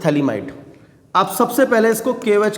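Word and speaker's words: phthalimide: जब स्पेलिंग देखेंगे तो PH इज साइलेंट, तो इसमें PH जो होता है वो साइलेंट होता है, दिस इज थैलीमाइड।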